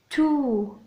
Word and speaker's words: tout: O, U, U, tout, le T ne se prononce pas, le monde, monde, éclate,